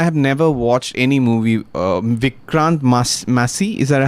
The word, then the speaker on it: Vikrant Massey: Vikrant Massey, is that how you pronounce it?